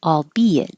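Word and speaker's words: albeit: make a invisible why albe it it means although an enjoyable albe it expensive vacation you can say B be or BB be because the be is not stressed I is the stressed vow Bey he beguiled the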